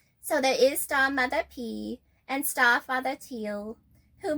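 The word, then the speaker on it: Piii: And then there is our Star Mother and Star Father, Star Mother P, which is a P-I-I-I, pronounced P, but we will just call her P.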